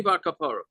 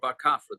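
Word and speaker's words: Bar Kappara: Tani Bar Kapara or Bar Kafra, depending on how you want to pronounce it.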